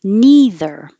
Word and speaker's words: neither: pronounced the same way neither with a voiced th neither of those are